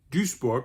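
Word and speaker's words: Duisburg: it has just over half a million inhabitants duborg another very important industrial city has about half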